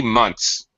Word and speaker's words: months: So I might say 3 months. Months. You really can't even hear the TH.